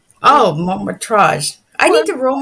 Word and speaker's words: Métrage: No, I'm just going to correct the pronunciation. So it was the Festival de Cannes, Métrage. Oh, Métrage.